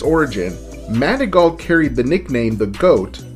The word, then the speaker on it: Manigault: that it was a simple mispronunciation of his name manigault some people thought that his name was manic goat some say it was